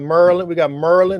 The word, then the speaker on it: Maryland: We got Merlin. That's how you say it.